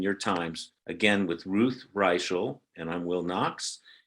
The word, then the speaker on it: Reichl: It is Raichel, right? It's not Riel. It's Raichel. Raichel. Because some would say Riel.